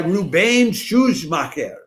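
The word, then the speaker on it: Rubén Szuchmacher: Finally, stage director is by Rubain Shuj Maher, which is uh that's such an Argentine name because the first part is is uh is Spanish, Rubain, and the second part is very German, Shu Maher.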